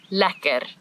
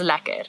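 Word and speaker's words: lekker: must learn how to say this word LA laer because it is used all the time in South Africa everything is lacquer not just the course that we were just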